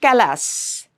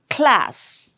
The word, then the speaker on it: class: So clock class not callass class.